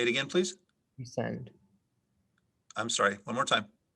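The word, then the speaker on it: prescind: an alternate pronunciation matricide matricide matricide am i pronouncing it correctly yes matricide that's correct denise your word is pre-send could i have all of the information please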